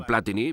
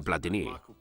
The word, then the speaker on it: Platini: más cuando era niño la mayor polémica era cómo se pronunciaba su nombre platini o platini porque yo me críe llamándole platini pero se decía platini los franceses comienzan el